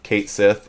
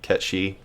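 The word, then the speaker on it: Cait Sith: Yeah, most people think his name is Kate Sith, which apparently the English dub also made that error. It's an eternal internet feud on how to pronounce the name. I go back and forth. Because the actual pronunciation, I believe, is supposed to be like Ketshi. Oh, yeah. And even in the Japanese dub, they pronounce it Ketshi. It's only the American release that I'm pretty sure pronounces it Kate Sith.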